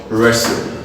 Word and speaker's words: wrestle: stlp is called hustle wre SDLP is called wrestle if people typically is